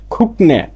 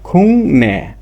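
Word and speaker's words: 국내: আবার আছে একটা দেখেন, সাধারণ নিয়মে খুকনে, কিন্তু উচ্চারণটা হবে গিয়ক পাইছি রুলসের। নিউনের গিয়কের পরে নিউন আসলে আর গিয়কের উচ্চারণটা ক না হয়ে হবে কি? ইয়ং। তখন উচ্চারণটা হবে কি? খুং নে।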